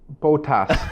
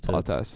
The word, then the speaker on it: Bottas: Botas. No, stop it. We had a pretty good comment. Somebody was mentioning the way Shaker pronounces Bottas. Bottas.